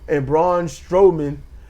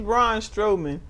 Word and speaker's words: Braun Strowman: So the Mazin event and Damian Priest and Braun Strowman. I keep wanting to say Strawman, but Okay, he's Braun Strowman.